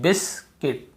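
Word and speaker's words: biscuit: यह वाला रूल में आपको यू को नहीं पढ़ना है। क्यों यू को नहीं पढ़ना है? क्योंकि यहां पे लिखा हुआ है आपको सीधी सी बात है क्योंकि यहां पे यू के पहले आई के पहले यू लिखा हुआ है। इसलिए हम यहां पे यू को नहीं पढ़ेंगे।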